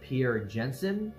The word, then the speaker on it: Pierre Janssen: And this gas was first discovered during a solar eclipse by this French astronomer by the name of Pierre Janssen, pretty sure that's how you pronounce it.